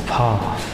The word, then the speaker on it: Phare: To us, it might be Phare, P-H-A-R-E. I think it might be pronounced as Par.